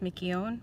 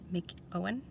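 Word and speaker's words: McKeown: i don't know if i can pronounce this mickey own me mickey own mick owen maybe uh m c k e o w n anyway so it's called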